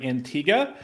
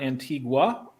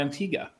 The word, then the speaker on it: Antigua: Fun fact, that is how you say the name of that island. It is not Antigua. Ironically, it's anglicized by the Americans to be Antigua because of the Spanish influence, which is the word means ancient, but the locals call it Antigua.